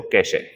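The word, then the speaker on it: cache: उसे बोलते हैं बच्चों कैश कैश में इ को साइलेंट पढ़ते कैश कैश हल्का सा बोले करो कैश एक की मात्रा तेज मत बोलना कैश है य कैश य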